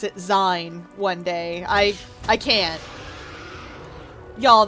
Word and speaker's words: zine: Though, I'm still not quite over, hearing someone pronounce it Zine one day. I can't. Y'all, that's a bridge too far. Oh? Like, it's zine. It's short for magazine.